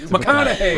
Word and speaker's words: McConaughey: McConna rhymes with what? Madonna, how are you, man?